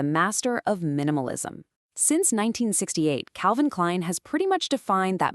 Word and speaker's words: Calvin Klein: No tricks here, no silent letters. It's just Calvin Klein.